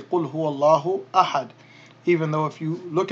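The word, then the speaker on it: أحد: are pronounced, because remember, we drop the ending pronunciation when we stop on a word. Just like in the surah, in Surah Al-Ikhlas, you say Qul huwallahu ahad.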